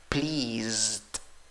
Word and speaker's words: pleased: En escritura no te confundas, tienes E y A. En la pronunciación tienes I, la I que se ríe, ¿ok? No es una I débil. I es la I con sombrero. La escritura tiene una S, la pronunciación tiene una Z. La escritura acaba con ED, la pronunciación solo acaba con D, esa E no va.